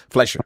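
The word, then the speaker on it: Fleischer: The 1930s animation style of Walt Disney Steamboat Willie and Max Flesher. Pronounc that right. Fumi games. Flesher.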